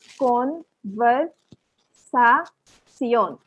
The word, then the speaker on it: conversación: ये सब आ गया, तो ला कॉन्वर्सासियोन, एकदम हर चीज को, जैसे सियोन को भी CION आ गया, इंग्लिश में तो ऐसे बोलेंगे, तो फिर सी ऑन, तो हर वावल को प्रोनाउंस करना है।